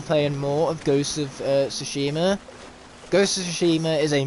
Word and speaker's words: Tsushima: Ghost of Tsushima, or Tsushima even, is how it's pronounced.